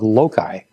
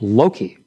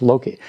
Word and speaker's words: Loki: a mistake one day and called the dog lokai and Dr gabeline said Frederick you must learn to pronounce the name of the dog correctly it's Loki did you hear that yes sir it's Loki now say Loki 15 times Loki Loki sir